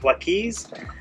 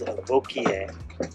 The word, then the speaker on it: Wauquiez: our boat tour we are aboard a 1984 V amphitrite if you see that written it looks like it says wys but the correct pronunciation is V and it's raining again we've been trying to